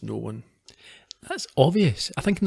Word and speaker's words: Noone: the book titles and explains septimus known as it was no one that's obvious i think